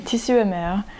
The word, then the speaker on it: Tissu et Mer: that I found from Tissu et Mer, which I'm pronouncing it in French because that's what they have.